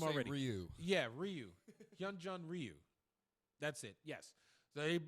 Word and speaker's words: Ryu Hyun-jin: with huh youngji oh god I messed his butchered his name already you yeah Ryu hyun-jin Ryu that's it yes they he max time